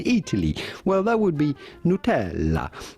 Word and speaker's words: Nutella: you can always say nutella but with the typical italian pronunciation how would you say it in italy well that would be nutella nutella so forget hey lemonade